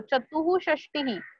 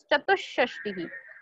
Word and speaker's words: चतुष्षष्टि: अभी यहाँ पे देखो चतुः षष्टि, ऐसे याद रखने के लिए बोल सकते हो, बट the correct pronunciation is चतुष्षष्टि. वो जो विसर्ग है 2 डॉट्स है उसको थोड़ा सा हाफ प्रोनाउंस करना है, चतुष्षष्टि.